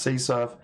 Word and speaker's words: CSRF: crossout request forgery or csrf which can be pronounced c surf has been known by